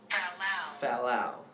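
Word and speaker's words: fallal: Fallow. And fallow is spelled F-A-L-L-A-L.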